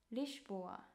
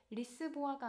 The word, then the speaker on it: Lisboa: S는 쉬 이렇게 영어보다 조금 길게 발음을 해요. 예를 들어서 리슈보아, 리슈보아, 리스본도 리스보아가 아니라 리슈보아.